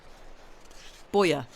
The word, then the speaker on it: Bojer: How does one pronounce this person's surname? Is it Bojer? Bojer? Is it that? Bojer.